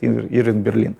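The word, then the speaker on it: Irving Berlin: Он Бейлин сначала был, потом тут опечатка, описка кого-то из делопроизводителей, стал Берлином даже, они здесь ударение ставят, Ирвинг Берлин.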